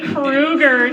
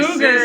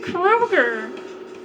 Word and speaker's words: Krueger: Freddy Krueger, not your Cougar. Sister laughed Yeah, at it. because you called him Freddy Cougar, and no one ever argued with you. His name is Krueger. It's Freddy Krueger.